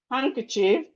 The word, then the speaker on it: handkerchief: So when you are writing any word, compound word that have D in the middle, just know that the D is silent when you are pronouncing it.